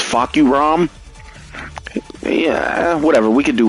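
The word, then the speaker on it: Fahkumram: So people call him Fuck Your Mom. The way you say his name is Fuck You Rom.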